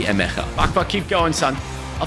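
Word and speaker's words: Emegha: Is it actually Emega or is it Emecha? Because in Dutch, you pronounce the G as most of the time. So I guess it might be Emecha.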